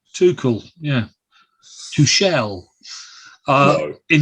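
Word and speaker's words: Tuchel: I want to mention too cool is that how you pronounce it yeah well done too cool yeah to Shell uh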